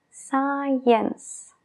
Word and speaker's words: science: palabra Science de ciencia Science Science Allí se junta la s Con la c al principio y simplemente se oye el sonido de la s Science